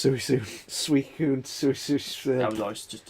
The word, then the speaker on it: Suicune: How the hell do you pronounce Suicune? Suicune, Suicune.